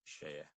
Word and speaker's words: Seye: Is it Seye? Seye, it's pronounced Seye.